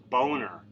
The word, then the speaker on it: Boehner: But let me just say, it's spelled Boehner. So how you get Boehner out of that, I do not know.